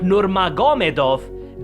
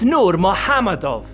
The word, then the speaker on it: Nurmagomedov: Well, not really if you know how to pronounce, it's not Normagomedov, don't go by how it's written. It's Nurmahamadav, oh don't believe me.